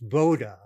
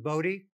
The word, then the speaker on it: Bode: dr hendrick wade boda it's a dutch name and the dutch pronunciation is voda his family preferred the